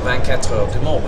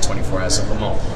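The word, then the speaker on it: 24 Heures du Mans: to race at the 24 Heures de Mans, which is the correct pronunciation, whereas everyone just goes to 24 Hours of Le Mans, which to me, if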